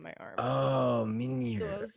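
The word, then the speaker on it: Mjölnir: Oh, So I Mjolnir.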